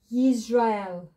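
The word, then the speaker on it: ישראל: It's the resh, which sounds as r. The A vowel underneath, R. Again, we could break it again. Yizra. And then go on to the next one. Silent. So it takes on the vowel only, which is air. Yisrael. You can see our three syllables.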